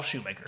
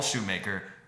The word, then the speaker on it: Schumacher: Joel Schumacher. It looks like Shoemaker. Joel Schumacher. Joel Schumacher.